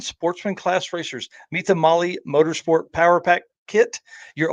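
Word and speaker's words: Mahle: podcast listeners Molly Motorsports Molly is spelled m ahle and I want to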